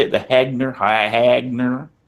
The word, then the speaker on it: Hegner: The Hagner. Hagner. H E G N E R Hegner.